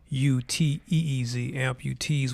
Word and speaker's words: Amputeez: We started a brand called Amputees, and that's AMPUTEEZ, Amputees with a Z.